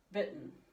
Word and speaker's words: bitten: If you take the B-I and then you put your tongue like you're going to say the T, but you don't really say it, and then you say the N, that's how we do it. Bitten.